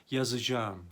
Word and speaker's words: yazacağım: yazacağım bakınız Burada yine harfler alması ve ğ kuralı var yazacağım diye yazarız ama okurken yazacağım deriz sana benim gözümle bakmayanın